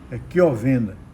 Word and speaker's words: Chiovenda: Então, nesse caso aqui desse concurso, um dos examinandos, o CH em italiano, se pronuncia também com o som de Q, Chiovenda.